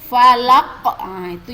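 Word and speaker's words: الفلق: Tulisannya kan bacanya di sini kan ini qul a'udzu birabbil falaqi ya kan? Karena anak-anak ibu berhenti atau karena kita berhenti, jadi q-nya tidak kita baca ya.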